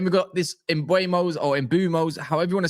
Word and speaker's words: Mbeumo: got this Imbuos or Imbumos however you want to say his name correct me if I'm wrong but I checked his interviews is it not Ibumo it's Imbumo is it.